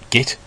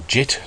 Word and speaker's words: Git: Bukit you might be using git or JIT depending on how you want to pronounce that and my preferences a